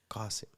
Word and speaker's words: Qasim: So and an Arab called me Qasim, and I was like, say that again, Qasim, and it's spelled Qasim. So that's the difference. It's the Arabic, the way you say it, and the name is Arabic.